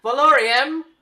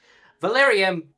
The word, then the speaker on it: Valerium: You see that she then like opens the door and says, "Valorium." Sorry, I pronounced his name wrong. Sorry. You see that she Valerium, can you come in here for a minute?